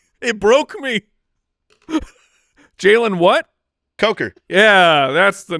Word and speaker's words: Coker: end spot he has Jaylen Cocker at or is it CER that's CER that's a Coker Boston Boston Boston to